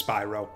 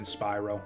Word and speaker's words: Spyro: Or I've played the first two or is it pronounced Spyro? I think I learned way late. Whatever, it's Spyro. It's always been Spyro.